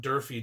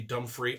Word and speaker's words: Durfee: the main one people mispronounce my name Durfee dumb free all the time so I kind of